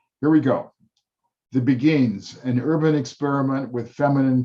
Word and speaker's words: beguines: It is called beguines, a French word, and I have discussed with my colleagues that we can pronounce it that way and be reasonably correct.